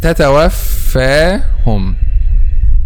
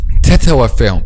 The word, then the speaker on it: تتوفاهم: So for example, the word تتوفاهم. Okay, this is تتوفاهم. This is the correct pronunciation. تتوفاهم الذين تتوفاهم الملائكة. تتوفاهم. But some people say تتوفاهم. تتوفاهم, and making this excessive air, and this is one of the common mistakes, and you should avoid that and saying without an